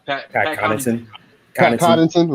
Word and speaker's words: Connaughton: He can provide the shooting along with, you have Pat how you pronounce his last name? Pat Pat Connaughton.